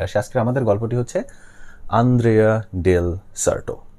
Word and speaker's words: Andrea del Sarto: আজকের আমাদের গল্পটি হচ্ছে আন্দ্রেয়া ডেল সার্টো। এটার উচ্চারণটা ভিন্নভাবে বলে, অ্যান্ড্রেয়া ডেল সার্টো বলে একজন মানুষের নাম।